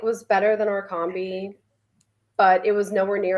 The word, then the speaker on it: Orkambi: Because I keep saying like almost like origami. That's it's just Orkambi. I mean, if my friends would pronounce it origami and they pronounce trikafta, trifecta, I just it is what it is.